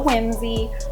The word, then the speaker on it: Whimzi: I think it's like Whimsy music but it's spelled wh I mzi music Tik Tock is just